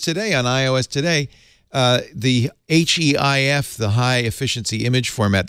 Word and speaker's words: HEIF: And another thing I found out just today on iOS today, the HEIF, the high efficiency image format that the iPhone